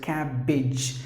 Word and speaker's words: cabbage: So you have to pronounce the word as cabbage. Words ending with the AGE, you have to pronounce with the short sound, ij, not with the long sound, H. Please don't do that.